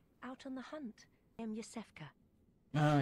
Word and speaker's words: Yosefka: Ice Fioka or something? Are you out on the hunt? I'm Yosefka. Oh, Yosefka.